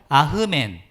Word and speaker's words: 아멘: 아멘의 히브리식 발음은 아흐멘이에요. 한번 따라해 볼까요? 아흐멘.